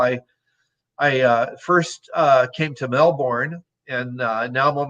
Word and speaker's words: Melbourne: was in uh uh i'm gonna pronounce it the way the australians pronounce it melbourne uh funny funny story